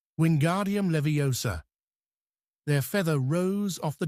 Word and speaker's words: Wingardium Leviosa: "Wardium leviosa!" he shouted, waving his long arms like a windmill. "You're saying it wrong!" Harry heard Hermione snap. "It's wingardium leviosa. Make the gar nice and long here.